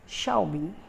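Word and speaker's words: Xiaomi: तो correct pronunciation क्या है? शाओमी, शाओमी।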